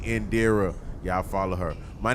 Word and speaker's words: Indira: all night so I'm gonna say it correctly Indira y'all follow her my name is business chill